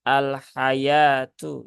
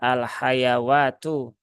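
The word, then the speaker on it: الْحَيٰوةُ: Nah, di sini dia dibaca dengan lafadz al-hayatu ya, al-hayatu ya. Jadi di sini wawunya dia tidak tidak dibaca, jadi jangan dibaca al-hayawatu.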